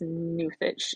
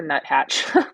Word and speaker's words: nuthatch: going to get this newfitch. It's a nuthatch. But again, like the Goshawk, I like to pronounce things funnily. I like to call him the newfitch.